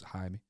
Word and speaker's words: Jaime: Like, oh man, it was Jaime. Huh? Never heard Jaime before? No. It's literally how Jamie is said in Spanish. Mad, innit? They pronounce the J's with a so it's Jaime.